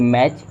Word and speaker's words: match: देखिए जब भी आपको टी सी एच एक साथ दिखे, जब भी आपको टी सी एच एक साथ दिखे, यहाँ पे आपका टी साइलेंट हो जाता है, यानी टी की आवाज़ नहीं आती है।